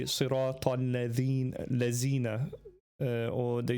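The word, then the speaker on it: الذين: Instead of saying al-ladhina, dal zal, the zal. Instead of saying al-ladhina you say al-lazina, right?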